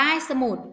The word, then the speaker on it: สมุด: ว่า สมุด นะ คะ อ่าน ออก เสียง เป็น สอง พยางค์ นะ คะ พยางค์ แรก ออก เสียง ประสม กับ สระ อะ ค่ะ คำ ที่ สอง นะ คะ มี หอ นำ มอ 1 สระ ขุด ไหม คะ 2 อะสะ หอ มอ อุ สมุด สมุด นะ คะ มี ใคร ไม่